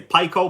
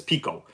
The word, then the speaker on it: Pico: Pico engines, and some people would say Pico, but I'm pretty sure the correct way to say it is Pico.